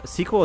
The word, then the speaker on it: SQL: for SQL 2 yeah squel is just what is that like sequel like who says that it's like a thing that someone said one time like we say squel now actually and you're like okay like why would you just say squel it's like SQL seems